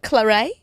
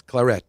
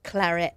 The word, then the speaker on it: Claret: clet Claret it's not Claret no it's Claret it's actually you have to pronounce the T Claret even the French and